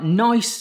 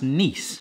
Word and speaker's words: Nice: And these are nice biscuits, but actually pronounced nice. There is a slight French background to these, but I won't go into it.